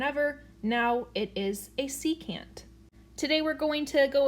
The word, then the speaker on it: secant: angle measures part one now a saccade is not a real thing but a secant however is a real thing so a secant that's how you pronounce it secant is a line